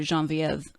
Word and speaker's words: Genevieve: Yeah, and I think you captured that well with her friend's character, Genevieve. Is that how you pronounce it?